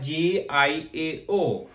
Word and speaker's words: 叫: कर रहे थे तो हमने IAO को क्या प्रोनाउंस किया था, हमने पढ़ा था याओ याओ। और जे की जो साउंड होती है ये चे के साथ है, तो ये इसकी जो